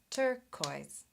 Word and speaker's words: turquoise: There are 5 vowel letters, but listen, turquoise. Turquoise, only 2 syllables. Yeah. Because there's only 2 vowel sounds, oi.